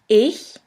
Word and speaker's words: ich: in the first case this letter combination sounds simply like the h in the word huge here we have the example of the word ich which means i in